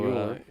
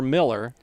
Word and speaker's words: Mueller: Yeah, Cleo Mueller. I've heard that pronounced either Mueller or Miller, so could be one or the other.